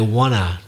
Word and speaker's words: wanna: Like also want to, I wanna, Wanna, because that's how we pronounce it.